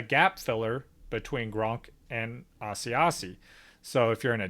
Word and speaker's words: Asiasi: The New England tight ends are Matt LaCosse and Devin Asiasi. I still don't know if that's a correct pronunciation. It's Asiasi.